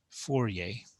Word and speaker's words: Fourier: a mathematician by the name of joseph yeah fourier there you go that's how you say his